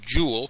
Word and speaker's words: joule: james prescott jewel and we pronounced this here jewel so when you see